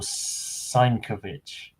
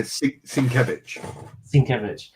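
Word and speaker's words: Sienkiewicz: out loud, but I'm I'm going to pronounce it Bill Sankovich. Oh. Uh Sinkevich. Yeah.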